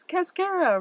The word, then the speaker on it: Cascara: And the common name rhymes with mascara. It's Cascara, Rhamnus persiana.